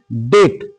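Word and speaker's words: debt: তহলে এখানে দেখো ডেট তহলে এই বি এই বি এর কিন্তু সাউন্ড হলো না এরপরে দেখো ডাউট ডাউট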